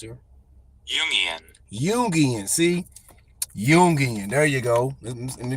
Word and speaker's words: Jungian: let's see how this is pronounced here yian yian see yungan there you go let me get him to